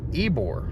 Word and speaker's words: Ybor: is called this area we were calling it yber city that is incorrect and we now know it is incorrect it is ebore so it's spelled YB o r and it say pronunciated ebore I don't like it